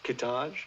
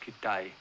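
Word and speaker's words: Kitaj: Kitage. No, it's pronounced Kitay.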